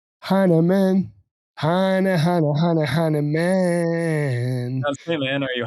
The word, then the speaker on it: Hinaman: 99%, unless they have a German background or some other reason to assume that it might be pronounced Heineman. But yeah, most people see it as Heineman.